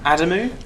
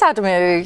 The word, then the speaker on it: Adamou: Is it Adamou? It is Adamou. Yeah, you pronounced it right. Thank you. Well, I'm good with tricky surnames. You'd be surprised that I get Adams and Adamo a lot.